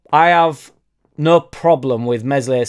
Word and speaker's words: Meslier: obviously everybody gets on mesle silent s's uh back and that's